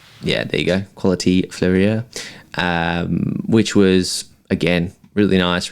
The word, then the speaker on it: Fleurier: Fleurier? Yeah, there you go. Quality Fleurier, which was again really nice, really clean, simple, elegant watches.